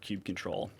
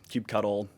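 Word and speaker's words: kubectl: Uh it's just an alias for cube control, cube cuddle, uh cubectl, whatever your preferred pronunciation is.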